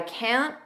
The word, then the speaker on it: can't: We don't push out that TI can't just don't push it out. I can't make it. The K sound is on the vowel kit make it.